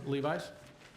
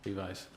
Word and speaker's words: Levis: for your time Levi's followed by Natalie Levi's leviser Levis sorry no it does get mispronounced very very often my name is Levis we've lived along the